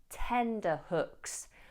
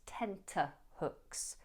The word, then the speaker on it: tenterhooks: Now don't make the mistake of saying tender hooks. Those hooks are not tender, it's tenterhooks.